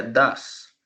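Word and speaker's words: does: el verbo de verdad ya sabemos bien en cómo lo escribimos pero no se pronuncia así se pronuncia das das go el verbo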